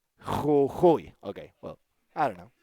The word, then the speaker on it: Jujuy: So it should be Jujuy. Jujuy.